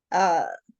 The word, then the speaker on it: Sahasrara: The Sanskrit, and of course, this one I get wrong. It's Sahasrara. That's a Sanskrit word.